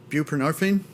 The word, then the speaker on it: buprenorphine: do this I want to make sure I'm pronouncing this properly it's uh bupren buprenorphine okay thank you I I'm not a doctor